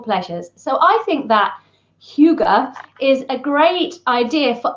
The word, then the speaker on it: hygge: so it's spelled h-y-w-g-e and um it is pronounced Huga I know this because I've spent the entire